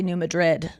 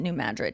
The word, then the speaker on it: New Madrid: I wanted to say New Madrid, but no, we pronounce it New Madrid here.